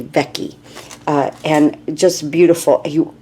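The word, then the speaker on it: Vecchi: I think I said vety but I think it's Wendy vecky uh and just beautiful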